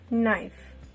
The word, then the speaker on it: knife: to the next one knife k is a silent letter here we are just going